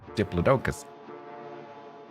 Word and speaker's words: Diplodocus: talking about um what I would call a diplodocus, but he pronounces it diploicus. Every time he said it had a bit of a hang on a minute, that's not how you say that. Diplodocus.